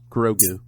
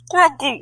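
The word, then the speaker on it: Grogu: g r o guu grou just like it just like it sounds yes grou which actually just sounds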